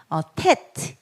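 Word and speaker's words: טית: 그 다음에 테트. 그래서 요거는 티귿 발음으로 T 발음 됩니다. 테트 9번입니다. 테트 9번. 그래서 이거는 티귿 발음이구나. 테트 이렇게 쓰죠.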